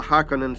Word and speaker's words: Harkonnen: this channel that being harkanen we'll start by listening to how the author frank herbert himself pronounced this name this snippet comes from